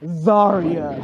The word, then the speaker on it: Zaria: It's pronounced Zaria, not Zaria.